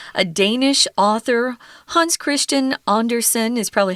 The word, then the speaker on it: Andersen: I say Hans Christian Anderson because we have a lot of Andersons who live in the states and that's how we pronounce that last name so it was called